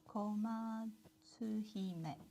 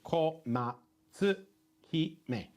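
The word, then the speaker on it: 小松姫: So you break it down into consonants and vowel pairs or just vowels. So komatsu hime.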